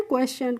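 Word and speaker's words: question: एस को पढ़ेंगे और टी आईओ एन को पढ़ते हैं हम शन तो इसको क्या पढ़ते हैं क्वेश्चन क्वेश्चन का मतलब होता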